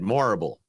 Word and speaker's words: Morrible: Michelle Yeoh has reportedly boarded the Wicked adaptation in a key role too as Madame it's Madame Horrible, but with an M instead. Morrible.